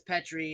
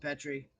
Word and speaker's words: Petrie: Because word pronunciation, I mean, I'm okay with, because there's a couple people refer to me as Petri and it's Petri, but eh, there's only